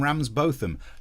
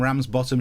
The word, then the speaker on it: Ramsbottom: Posh people think that their surnames are pronounced Coburn and Ramsbotham. No, they're not. Cockburn, Ramsbottom, shut your face, you posh git.